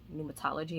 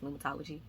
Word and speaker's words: pneumatology: I'll put it on the screen because it starts with a P, but you don't pronounce the P, so I think it's pneumatology.